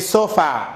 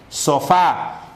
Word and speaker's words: sofá: Se sentó en el sofá. Mal. Es sofá.